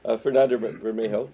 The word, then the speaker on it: Fernando Bermejo: Fernando Bermejo, is that correctly pronounced?